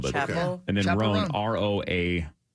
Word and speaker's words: Chappell: Chappelle Roan. I think it's Chapel. Is it really? Yeah. Chapel okay. Roan. I believe that's right, yeah. Chappell. Like Dave two L's.